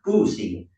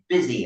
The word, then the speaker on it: busy: It's because that's how it used to be pronounced, boozy.